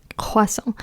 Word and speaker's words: croissant: And croissant, spelled with the C in the beginning, is pronounced k, croissant.